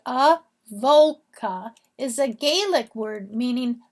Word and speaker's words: Avoca: The name Avoca, and it's pronounced Avoca, is a Gaelic word meaning the meeting of 2 waters.